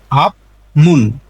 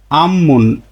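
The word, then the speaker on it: 앞문: বলবেন তখন সিমমান আরেকটি উদাহরণ দেখি এর স্বাভাবিক উচ্চারণ হচ্ছে আপমুন আপ মুন কিন্তু বাদমে ফিউপ পাইছি ফিউপের পরে রুলসের মিউম পাইছি নিউন মিউম তাহলে বিউপ ফিউপের উচ্চারণটা হবে ম আপমুন না হয়ে এর উচ্চারণটা হবে আমমুন আমমুন আম্মুন মানে সামনের দরজা এইযে মুন মানে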